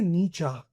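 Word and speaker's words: Nietzsche: सो अब इसमें मॉडर्न बुरजा सोसाइटी सेड नीचा वाज़ डेकेटेंट एंड एनफीबर्ल्ड इनकी प्रोन्सिएशन ये बहुत बड़े साइकोलॉजिस्ट रहे हैं। इनकी काफी सारी थ्योरीज़ हैं। राइट इसको प्रोनाउंस करा जाता है नीचा वास डेडेंट डिकेंडेंट का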